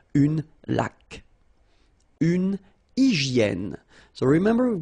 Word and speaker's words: laque: Remember the rule when you get this Q-U, well, U is not pronounced, so you get K, like that. Une laque.